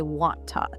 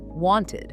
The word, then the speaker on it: wanted: It ends in a T. You can't say want-tod. One-tide. That sounds silly. So we add an extra beat. We say id, wanted, Want-eyed.